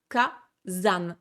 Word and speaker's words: Kazan: K, San ne se dit pas, ça devient Kazan.